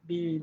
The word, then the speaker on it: been: I think it should have been pronounced bean instead of bin. Bean and seen.